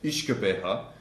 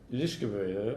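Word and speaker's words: uisge beatha: This comes from the Gaelic Ishkabeha, which means the water of life. Ishkabeha? Ishkabeha, yeah.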